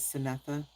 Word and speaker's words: Synetha: Like my first name is Synetha. And people would be like, "Syn?" Yeah, cuz they see it's spelled c y n.